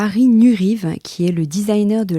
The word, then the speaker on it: Nuriev: Alors, Harry Nurive, alors je dis Nurive, mais ça s'écrit, parce que je crois que j'ai vu des vidéos où il dit Nurive, mais ça s'écrit Nuriev, N-U-R-I-E-V.